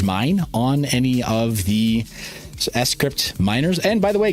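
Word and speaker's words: scrypt: on any of the s crypt minors and by the way guys little trivia for you it is pronounced s crypt not script it's s crypt like cryptography s crypt weird anyway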